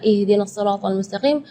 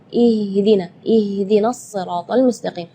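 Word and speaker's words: اهدنا الصراط المستقيم: Di sini makhraj huruf H yang ingin Kak Nabila tekankan, karena biasanya kalau kita mendengar imam-imam, jangan pun imam-imam, mungkin kita sendiri ya ketika membaca ihdinas siratal mustaqim, baca H-nya keluarnya dari dada. Ya, itu tidak boleh, itu keluarnya dari dada. Sedangkan makhraj huruf H itu adalah dari tenggorokan.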